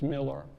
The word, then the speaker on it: Millar: Miller is spelled with an A, not an E, but is pronounced Miller.